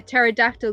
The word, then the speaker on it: pterodactyl: Why can't you hear a pterodactyl go into the bathroom? Go on. The P is silent.